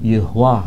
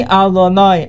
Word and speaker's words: Adonai: Saya baca adon karena di sini tertulis sebetulnya kalau dibaca itu Yehua. H ya. Tapi enggak boleh orang Yahudi membaca Yehua. Dia bacanya adonoyid diganti karena itu e nama yang sangat suci.